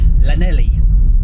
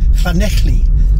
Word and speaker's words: Llanelli: So he was saying Lanelli, Lanelli. And just hearing him say that, even as an Englishman myself, made my ears melt. It's Llanelli, two L's, Llanelli. Again, I don't know if